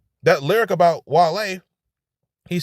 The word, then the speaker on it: Wale: He says, and the only reason I put him is because parlay and Wale rhymes. Parlay, Wale.